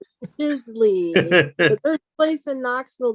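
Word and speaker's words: giclée: does that on a commercial how do you spell it i i know i spelled it g-i-c-l-e-e oh i was right it's juicy the third place in knoxville that does it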